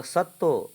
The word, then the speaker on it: সত্য: सत्य पूरा उच्चारण नहीं करना है दीदी, यह उच्चारण नहीं होगा, ये बांग्ला है। वाई साइलेंट हो जाता है और त है वो डबल त हो जाएगा। तो सत्तो, सत्तो के खोजो।